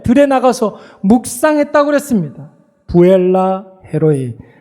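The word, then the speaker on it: 브엘라해로이: 부엘라 헤로이, 베르라하이 로이 이렇게 발음을 하는데 베르 살아계신 하나님, 뭐 라이는 뭐 샘물이고 로이 감찰하시는 하나님, 지켜보시는 하나님 앞에서 뭐 했다고요?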